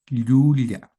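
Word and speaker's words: llulla: Pero a veces la Y en algunas zonas está doble ya, doble L, ¿no? En la que la lengua choca con el paladar, ya el aire sale por los costados de la lengua. Ya, ya. Hay un contacto del paladar con la parte media de la lengua. Entonces, hay que pronunciarla así en el en el quechua.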